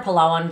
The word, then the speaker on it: Palawan: Oh, so I spent 8 days total in Palawan or Palawan, depends on where you're from, how you pronounce it. Sorry. I'm going to pronounce it Palawan. That's just how I was taught by some locals, so.